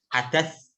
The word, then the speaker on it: hadas: Tulisannya seperti ini, hadas. Bacanya kayak hadas. Hadas.